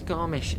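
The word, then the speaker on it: Garmisch: tea over to garbage or have you pronounced pronounce it let me check it's garmish in germany or is it in switzerland i'm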